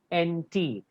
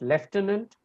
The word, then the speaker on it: lieutenant: It is spelled Lieutenant, which is either pronounced lieutenant or lieutenant.